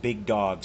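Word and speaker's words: Big Dawgs: That's not spelled like the normal word dog. It's DAWGS, Big Dogs.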